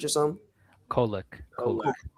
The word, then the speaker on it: Kolek: Yeah, Is it like Kovic or something? Kolek.